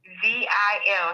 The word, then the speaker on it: Bazil: Bazil. It's like Brazil without the R.